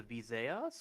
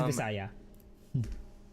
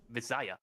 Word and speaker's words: Visaya: Um well the next region is the Visaas which is the middle islands. Yeah. Uh it's Visaya. Oh Visaya. Okay.